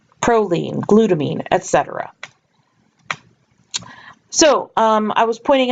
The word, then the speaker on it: glutamine: cysteine just a note all of these terms like the names of the different nitrogen bases or the names of these amino acids all tender rhyme with the word scene or team so for example you